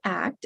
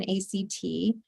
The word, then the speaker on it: ACT: when we work with medical patients and it's pronounced act as a word rather than act and there's a lot of research support showing